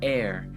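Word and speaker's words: Heir of Life: For whatever reason, I always end up pronouncing the H. I just need a note to self, just don't pronounce the H. It's just air, not hair. Air.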